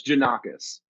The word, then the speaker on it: Jannakos: His name is Jannakos. I actually just witnessed him opening. Did I say it wrong? That was close. So many people say it wrong though. It's Jannakos.